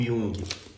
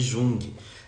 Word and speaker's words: Jung: Guiana quem é o Young e algumas pessoas chamam de Jung na verdade se escreve junto mas a gente pronuncia Young o qual gosta e